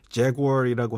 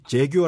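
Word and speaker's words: Jaguar: 이제 이제 유튜브라는 아니면 영어에서 하는 거면 자아라고 하지 제규어 아고 하지 않습니다 아 그 굉 그때 사운드를 살려주는 거 그렇죠 그렇죠 마지막에 약간 뭉개지는 좀 발람이 들리는데 뭐 사실 이게 뭐 재규어를 했을 때 알아들을 수도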